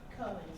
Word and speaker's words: Cohen: Cohen, C-O-H-E-N.